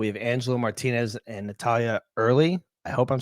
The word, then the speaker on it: Earle: it was pretty close it's Earl yeah like Earl New Jersey Earl Naval weapons station